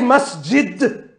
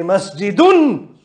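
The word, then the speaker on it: مسجدٌ: So, for example, don't say masjid. Say masjidun.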